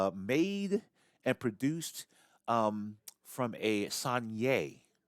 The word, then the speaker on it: Saignée: Saignée, as it is pronounced, you got the grapes that are picked at the beginning there, and then they are crushed.